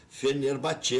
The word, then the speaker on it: Fenerbahçe: já se apresentou ao Fenerbahçe, né? É assim mesmo a pronúncia, eu sei que é meio estranho, mas é Fenerbahçe, aprendi com Lauro José de Quadros aqui mesmo nesse estúdio.